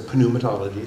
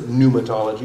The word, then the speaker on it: pneumatology: fancy terms scare you pneumatology starts with a pneumatology if you want pronounce it that way but people will laugh at you for pronouncing panumatology so just pronounce it pneumatology with a silent B and uh it's the